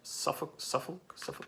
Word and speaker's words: Suffolk: So they are from Suffolk, England. Am I pronouncing that right? Suffolk, yeah.